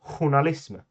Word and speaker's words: journalism: In Swedish, we pronounce that journalism. And oh no, the SJ sound is back.